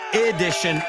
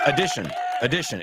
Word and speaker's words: addition: We don't say addition, addition. It's addition. It's the schwa, that sound at the beginning.